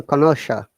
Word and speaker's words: connoisseur: connotation, cockney, cocktail, cook, cookery, connoisseur, No, seer, it is a French word, so connoisseur.